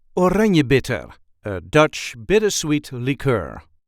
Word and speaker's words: Oranjebitter: a regular Dutch accent Oranjebitter, a Dutch bittersweet liqueur. This is how we say Oranjebitter. Oranjebitter. There is a light emphasis on the second syllable.